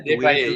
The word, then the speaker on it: Desbaillets: Is it Desbaillets? Yeah, Desbaillets. You're saying it right.